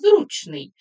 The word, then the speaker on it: зручний: є ось таке слово будьте уважні наголос зручний з прикметниками зручний м'який